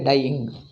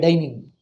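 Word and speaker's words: Dyeing: somebody opened a shop bombay dying dying dying means the coloring not dying and people don't know how to pronounce villagers small town and all villagers they would say bombay dining everybody pronounce it bombay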